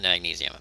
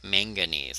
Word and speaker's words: manganese: Same, not magnesium, manganese. I always pronounce that wrong. It is manganese, because magnesium and water don't get along very well.